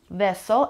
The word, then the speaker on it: vessel: Vessel and the stress is on the first syllable.